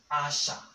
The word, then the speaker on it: Asha: verb which is called Asha. Asha, right? So you see, so our vowel here is pronounced, our tongue is at the middle of the mouth and at the bottom.